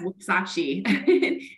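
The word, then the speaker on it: Wuksachi: See, you needed to pronounce it. Yes, Wuxachi.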